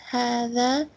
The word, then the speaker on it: هذا: هذا is pronounced هذا, but it is written without the first alif.